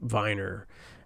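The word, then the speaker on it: Wiener: uh um a person Norbert um um Viner and I think is how it is pronounced and uh so uh Viner he um he uh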